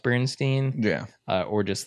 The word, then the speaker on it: Berenstain: So I think even though it's like spelled Berenstain, it's pronounced Bernstein.